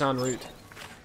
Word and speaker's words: en route: I think it's en route. Guns for every occasion. I believe en route is the actual pronunciation, good sir.